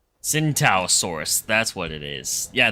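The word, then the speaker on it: Tsintaosaurus: It's called a cintaossaurus. T is silent like the centalaurus. Gotcha. What? And it has a mohawk. At least that's what I'd call it. Cintasaurus.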